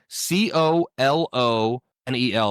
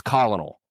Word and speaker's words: colonel: If you read that it's colonal, right? Um but it's pronounced colonel. There's no R in there. The word's pronounced colonel because it comes from France and that's like how it's pronounced over there.